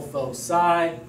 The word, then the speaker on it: foci: distances from two fixed points called foci is one pronunciation. Foci is also an acceptable but bizarre pronunciation.